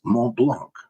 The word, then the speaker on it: Mont Blanc: Okay, the French pronunciation is Mont Blanc, where the T is silent. But I'm not French, and I don't have a French accent, so I'm not even going to try that.